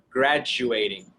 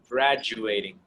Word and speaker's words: graduating: a d graduating but it's not pronounced like a d it's like a j j like jeans graduating graduating okay so repeat graduating all right very good